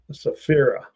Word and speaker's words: Saphira: Saphira. Thank you. I was having a hard time pronouncing that one.